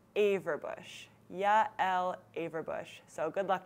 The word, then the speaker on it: Averbuch: And my last name is maybe even a little bit trickier, Averbuch. I think it's actually technically from German descent, so it's Averbuch or something like that if you pronounce it properly, but I've heard a lot of different pronunciations of that as well, so it's Averbuch.